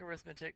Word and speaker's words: arithmetic: So, first and foremost, we need to define what an arithmetic, yes, it looks like arithmetic, but it's pronounced arithmetic sequence, is a sequence in which the difference between successive terms is a constant called the common difference.